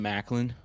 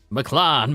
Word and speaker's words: McLaren: Some Macklin. McLaren, man. Oh, is that how you say it? Supposedly.